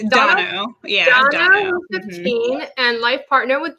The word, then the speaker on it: Dono: Did I pronounce it correct? Dono. Yeah, Dono, 15, and life partner with Jules.